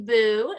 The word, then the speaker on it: Booe: Stephanie Booe, and that's pronounced Boo, not Booe, which I had incorrect, is a writer, a